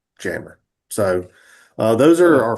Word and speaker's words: Jamur: And jammer looks like Jamur, so it's just Jamur, but for some odd reason they pronounce it jammer.